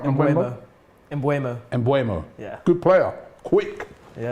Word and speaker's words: Mbeumo: Have I pronounced that right? Mbeumo.